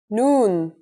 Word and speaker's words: noon: in arabic that's noon the noon is pronounced just like the english n pretty easy right it basically looks like